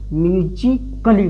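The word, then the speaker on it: musically: अगर ए के बाद LLY आए तो, अगर ए के बाद LLY आए तो ए का होता है साइलेंट होता है। ए साइलेंट होता है। जैसे देखिए MUZICALLY, यानी LLY के पहले का है ए आया है, तो ए का होगा हम लोग का साइलेंट होगा। इसको क्या पढ़ेंगे? म्यूजिकली पढ़ेंगे।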